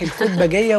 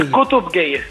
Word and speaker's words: الكتبجية: احنا عايزين نعرف الاول النطق بتاعنا صحيح، الخطبه جايه ولا الكتب جايه؟ الكتب جايه.